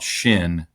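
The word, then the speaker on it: Chêne: foul specific company called Shin that and they tell me that's how you pronounce it. It's a French word ch e with a hat ne.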